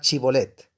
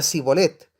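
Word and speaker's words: Shibboleth: Ellos le pedían que pronunciara la palabra chibolet. Si era de Efraín, diría Sibolet, porque a la gente de Efraín le cuesta pronunciar bien esa palabra.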